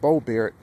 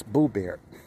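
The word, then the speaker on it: Boebert: So I'm just pronouncing it the way any other Dutchman would pronounce her last name. It's not Board or Board. It's Boo Bear. Even with the OE, I speak Dutch people.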